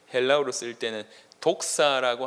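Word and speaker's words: δόξα: 이것이 이제 번역돼서 이제 헬라어로 쓰일 때는 독사라고 하는 단어입니다. 독사. 뱀 얘기하는 게 아니라 발음으로 헬라어로 독사라고 하는 단어인데, 이 독사라고 하는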